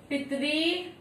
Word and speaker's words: पितृ: पित्रादेश पितरी धन आदेश, इसे हम री की मात्रा बोलते हैं इसलिए इसका उच्चारण भी री के जैसे होता है, जैसे पित में री की मात्रा लगी तो क्या हो गया पितरी, क्या हो गया पितरी।